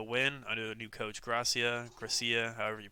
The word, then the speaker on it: Gracia: under the new coach Gracia Gracia however you pronounce that he had a good sorry go on just Garcia g-r-a-c I think it's just Garcia it's g-r-a-c-i-a yeah it's not Garcia it's Gracia then that's supposed to